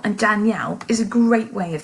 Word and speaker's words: Danielle: I turn it round said Danielle I've actually got a different name the stress level there falls on the yell and the damn is